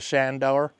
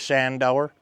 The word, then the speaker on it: Shandoor: do the ride-along to Shandor. That's, I say it like that because that's the native pronunciation, is Shandor.